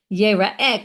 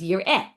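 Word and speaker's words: יֵרָאֶה: Now that, whether you say it's spelled, right, it's written, you would normally read that word as yir'eh, but we read it as yera'eh. So they're hadadininu.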